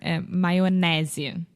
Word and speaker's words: mayonnaise: Don't read the A there. Mayonnaise.